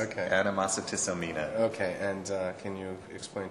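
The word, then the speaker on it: Animositisomnia: Anyway, it's called Animositissomnia, I believe. Is that correct? You put an extra syllable in there, yes. Okay. Animositissomnia.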